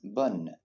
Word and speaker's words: bonne: Notice how we pronounce bonne. It's because we have an E at the end of the word.